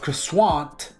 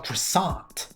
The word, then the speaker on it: croissant: But back to the case in point, I was now stuck with the pronunciation of croissuant instead of croissant.